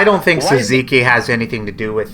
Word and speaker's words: tzatziki: How do Americans pronounce tzatziki? Tzatziki. So it's a silent T. Tzatziki. It's like zamisi. Gotcha. It's not entirely silent. It's like a soft D.